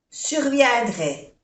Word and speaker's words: surviendrait: No se pronuncia la T. A-I-E, dre. Surviendrait.